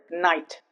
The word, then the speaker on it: night: And another uh word night here also gh is silent.